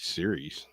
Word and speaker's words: Sirius: cyrus uh yeah s-i-r-i-u-s do you say sirius or cyrus looks serious serious serious yeah that's right why so it's a